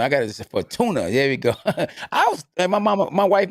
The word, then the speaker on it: Javier Fortuna: Javier Fortuna. Fortuna. I got it. Fortuna.